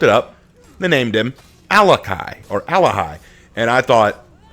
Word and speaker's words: Alakhai: some people are asking is it alakai or is it alahi and the answer to that is I believe it is alahi because the KH I